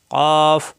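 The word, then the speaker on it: ك: কৈকু এরকম উচ্চারণ হবে পাঁচ নাম্বার মাখরাজ জিহ্বার গোড়া থেকে একটু আগে বাড়িয়ে শক্তকারে উচ্চারিত হয় স্বাভাবিক উচ্চারণ হবে এটা কাফ এটা কাফ জিহ্বার গোড়া থেকে একটু আগে বাড়িয়ে কাফ জবর আসলে কা জের আসলে কি পেশ আসলে কু কা কি কু আর এখানে কই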